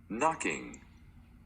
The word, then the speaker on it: knocking: The letter W in front of the R is silent, the letter K in front of the N is silent, and the letter G in front of the N is silent. So you're only gonna say the second sound for these two letters.